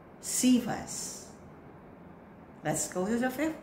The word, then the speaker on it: Cephas: Fourth word is silently, read it aloud. And the word is Cephas. Cephas.